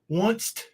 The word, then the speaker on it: once: Once. Mm-hmm. At the end of once, there is no T.